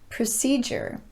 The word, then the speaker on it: procedure: already noticed a pattern in each one the letter d is followed by the letter u so you might naturally